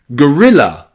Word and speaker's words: gorilla: Also in gorilla. Gorilla. You have the the O there in gorilla is not stressed. It's not gilla. It's gorilla with that as the stress.